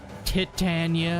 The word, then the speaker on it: Titania: Titania is the closer pronunciation.